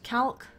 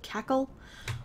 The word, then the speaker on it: Calc: We've got Calc. I don't know why I pronounce it that way, but I do. Cackle? It should be like Cackle.